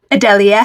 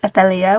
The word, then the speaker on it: Adelia: That's the English pronunciation. It's also a Spanish name, and you'd say more like Athelia, which is very pretty. When I read it, I thought it was going to be Adelia, which I actually really like as well, even though it's not one of the official pronunciations.